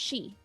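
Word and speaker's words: 四: The reason they never have 4th floors in hospitals is because the words for 4 and death are pronounced the same way in Japan. It's pronounced she.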